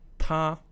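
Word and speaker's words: 她: With exactly the same pronunciation is the female pronoun, ta as well, first tone.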